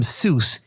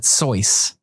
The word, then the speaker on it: Seuss: way to pronounce it you're wrong as the deuce and you shouldn't rejoice if you're calling him Seuss he pronounces it sois so I was correct